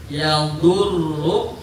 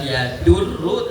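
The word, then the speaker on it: يؤوده: Nah, lai ya'udhu. Bedakan qad dengan dal. Bukan ya'durru tetapi ya'udhu.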